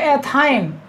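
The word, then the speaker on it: ethyne: ठीक है, प्रोनाउंसिएशन पर विशेष ध्यान देना है, ये एथाइन, प्रोपीन, ये प्रोपाइन, ठीक है, ब्यूटीन, ब्यूटाइन, इस तरीके से एंड सो ऑन।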